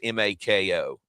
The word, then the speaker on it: Mako: Uh, how do you pronounce this? M A KO.